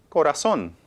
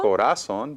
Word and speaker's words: corazón: En la O.